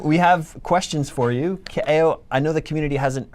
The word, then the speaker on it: Kaeo: Kaeo is Hawaiian, so his name is Kaeo. Some people call him Ko. That's wrong.